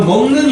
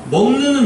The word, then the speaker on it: 먹는: 그래서 먹는 이렇게 되는데 비음 니은음이 뒤에 떡한이 버티고 있잖아. 네. 그러니까 받침 비역이 발음상 뭐로 바뀌어요? 같은 비음 계열인 이응으로 바뀌어 버리죠.